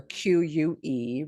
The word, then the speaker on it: que: not all the time, only in specific cases, like when it's a GUE, right? Or QUE, right? That word que, what? We don't pronounce the U.